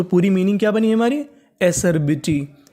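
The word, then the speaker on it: Acer: ए सी ई आर, इसे तो पढ़ेंगे ए। सी ई आर सर, क्या पढ़ेंगे? सर। तो मीनिंग बनी एसर। बी आई बी, टी वाई, टी वाई को पढ़ते हैं टी। तो पूरी मीनिंग क्या बनी हमारी? एसरबिटी, ए सर बिटी, एसरबिटी।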